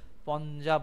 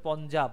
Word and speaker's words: পঞ্জাব: হয়েছে, তার জন্য এটা পঞ্জাব বলা হয়, বুঝতে পারো, পঞ্জাব, পাঞ্জাব আমরা উচ্চারণ করি কিন্তু উচ্চারণ হয় পঞ্জাব, উচ্চারণটা এইভাবে হয়, পঞ্জাব মানে পঞ্চ আব, মানে পঞ্চ নদী।